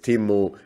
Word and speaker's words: Timmu: deconstructor fun podcast today uh my guest is timu tokei i i i mispronounced your name timo i'm really sorry but